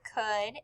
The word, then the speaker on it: could: a buddy the word could is spelled c o u l d the c makes the k sound and the o u makes the uh sound the l is silent then we hear the